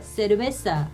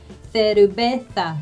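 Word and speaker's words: cerveza: 맥주라는 단어를 보시면 두 가지로 발음하실 수가 있어요. 세르베사 하실 수 있고요. 그 다음에 세르베사 이렇게 think 할 때처럼 그렇게 비슷하게 발음하시면 되고요.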